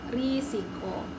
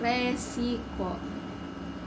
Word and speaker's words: risiko: Kamus Besar Bahasa Indonesia kata yang benar adalah risiko bukan resiko kata dasar resiko tidak ada dalam bahasa dan Kamus Besar Bahasa Indonesia atau KBBI dan mulai sekarang penggunaan kata yang tepat dalam pengguna pengucapan maupun penulisan dalam kegiatan sehari-hari ialah risiko menggunakan huruf i bukan di huruf kedua kata tersebut dari penulisan di atas manakah